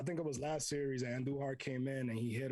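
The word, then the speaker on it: Andújar: Chris, what do we do with Miguel Andujar? We roll our R's.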